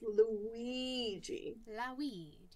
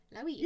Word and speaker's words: Luigi: It's Luigi. Luigi. If you just say it like with like a very, very stereotypical Italian accent, you'll got it. Like Luigi.